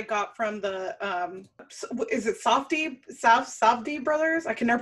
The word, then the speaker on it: Safdie: This might be a previous impression that I got from the is it Safdie brothers? I can never pronounce their last name. Safdie, yeah.